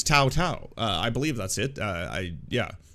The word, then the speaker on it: Tou Thao: like a progressive uh I believe the proper pronunciation if you're not you know rude or xenophobic uh is Tau Tau uh I believe that's